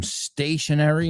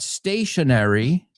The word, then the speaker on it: stationery: Se pronuncian exactamente igual, and that is like an exercise bike, right?